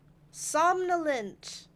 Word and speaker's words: somnolent: Somnolent. That is how you say it.